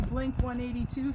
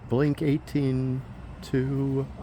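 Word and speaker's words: Blink-182: Yes, in which we were going to play a Blink 182 song.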